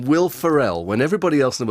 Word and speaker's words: Ferrell: Ferrell, like a feral Well, Ferrell child.